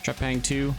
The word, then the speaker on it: Trepang: Released for PS5 in October 2023, Trepang2...